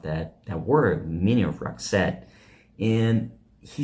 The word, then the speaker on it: Roxette: she didn't exist uh so he created the name because he wanted two syllables with the accent on the second syllable and this is what